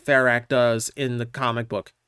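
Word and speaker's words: Ferak: He pronounces it Ferrak, which is how I've always pronounced it.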